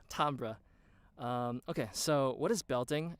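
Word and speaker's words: timbre: you a pronounced it I hate the way Americans say it's like Tambor it's on so Tambor's it sound so uneducated Tom bruh okay so what is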